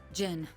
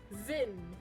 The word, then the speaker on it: Zin: Jin, we have nothing to gain by associating with this man. Jin? Zin, come on! Did not pronounce the Z? You pronounce it as a J?